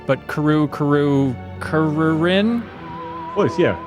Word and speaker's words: Kururin: fantastic homage to a game that I cannot pronounce, but Kururin? Close, yeah. Kururin, which is a Game Boy Advance launch title